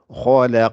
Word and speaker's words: خلق: Donc, c'est pour ça qu'on dit khalaq. Vous voyez? Et c'est un gymnastique au niveau de la langue. C'est pour ça Ibn al-Jazari disait que c'est l'entraînement qui aide avec le temps à bien prononcer.